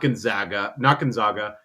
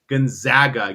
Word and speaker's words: Gonzaga: So I said, "Oh, you're from Gonzaga," and he's like, "No, not Gonzaga, Gonzaga.